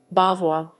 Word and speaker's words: Beauvois: Beauvois, French pronunciation, Beauvois, is a commune in the Pas-de-Calais department in the Hauts-de-France region in northern France.